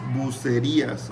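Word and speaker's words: Bucerías: Here the R is not like R, is less, is bucerias.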